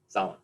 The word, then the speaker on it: Zahlen: Zahlen. Is that how you say it? Zahlen. Yeah, see, good.